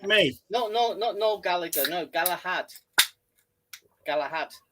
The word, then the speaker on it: Gallagher: It's not Gallagher. It's pronounced Gallagher. It's an Irish name. The H makes the second G.